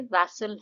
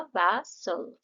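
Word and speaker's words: vessel: वैसल जो word है इसमें दो सिलेबल है। व और सल का जो साउंड है। तो दो साउंड आ रहे हैं। इसमें जिस साउंड पे हम एफेसिस दे रहे हैं, जिस पे हम जोर दे रहे हैं, वो है पहला वाला जो सिलेबल है। तो यहां पे यह हो जाएगा वैसल।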